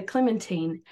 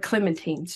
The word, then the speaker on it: Clementine: tell my version of Clementine's story. I know you have noticed how I pronounce Clementine. I learned in the book that Americans always pronounce it Clementine, but she pronounced it rhyming with Josephine.